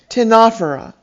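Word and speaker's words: Ctenophora: a r i a you will notice that they each began with a silent letter c why you'll have to ask the ancient greeks charles moya tell us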